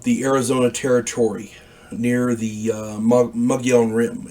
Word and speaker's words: Mogollon: After I'd parted company with Doug and Dean, I ended up in the Arizona Territory near the Mogollon Rim. It's spelled Mogollon, pronounced Mogollon.